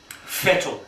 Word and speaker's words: Vettel: it's good to see fedal doing well mate it f good to see our German friends turning around and saying that in German V is pronounced F heavy F so we're going to